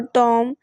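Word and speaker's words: tomb: इसी तरह से डाउट, DOUBT, लेकिन इसमें बी जो है वो साइलेंट आ रहा है। इसी तरह से बॉम और टॉम, इनमें भी जो है वो बी आ रहा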